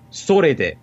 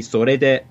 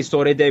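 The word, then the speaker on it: それで: video is I say sore de when it should be sore de. I go down instead of up. But then later in that same video, I say sore de with the correct pronunciation later on.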